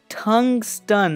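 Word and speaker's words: tungsten: person than that cuz I've been saying it wrong this whole time and it's to called tungstun I've been saying tungas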